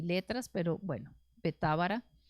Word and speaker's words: Betábara: Estas cosas sucedieron en Betábara, al otro lado del Jordán, donde Juan estaba bautizando. Bueno, Betábara tiene el acento en Ábara, ¿verdad?